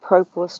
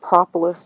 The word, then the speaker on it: propolis: So I've got propolis traps, not propolis, excuse me, I say it wrong every time.